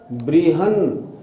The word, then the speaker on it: बृहन्: ये ब्र नहीं ब्री, ब्रीहन, गाढ़म ब्रीहन, ये निगृष्ट